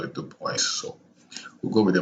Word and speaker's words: Du Bois: Du Bois, the French would pronounce it Du Bois. I think I did mention this in my other video about him as well. You know, I googled up the correct pronunciation, the American pronunciation.